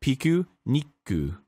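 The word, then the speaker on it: ピクニック: So, the proper pronunciation, as is described in the Japanese text that you see before you, is piku niku.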